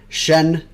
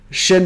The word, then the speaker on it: Shin: look at it because i always say it wrong shen see i already said it wrong always i always do shin megami tensei five i got it right on the second time